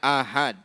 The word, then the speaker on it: ahad: Bukan hadis ahad ya. Cara membacanya ahad. A-nya dipanjangkan, H-nya juga dipanjangkan. Ahad adalah hadis yang tidak memenuhi syarat-syarat hadis mutawatir atau tidak memenuhi sebagian dari syarat mutawatir.